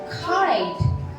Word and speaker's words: kite: t t e e kite you know that e next to T and C is a silent we don't read okay